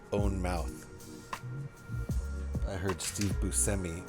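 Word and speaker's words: Buscemi: How many goddamn great movies has Steve Busi been in?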